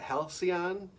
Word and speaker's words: Halcyon: I think it's Halcyon. You pronounce it Halcyon.